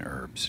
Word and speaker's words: herbs: I don't know why it's funny for me to pronounce the H in herbs.